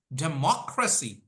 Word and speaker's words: democracy: y g y l thir from the last put pressure on it 1 two three so repeat after me democracy democracy democracy democracy demy